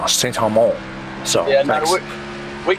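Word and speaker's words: St. Amant: Saint Amant. It's all one word, Saint Amant. Oh, all right, wicked. Yeah, because I got some French Canadian in me, so I'm over here saying Saint Amant.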